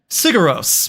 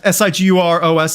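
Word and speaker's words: Sigur Rós: Gonzo Lude, Sigur Ros, Siguros, Icelandic band. Yeah. Oh yeah. Okay. Yeah. I'm gonna have to bow out. Okay. Okay. Sigur Ros.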